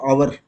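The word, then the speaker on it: hour: आवर के लिए H silent है तो ए के साथ एन लिखना है क्योंकि ये यहां पर एच साइलेंट हो जाएगा। आवर अ से शुरू होता है तो वोवेल्स के साउंड से शुरू होगा तो एन लिखना है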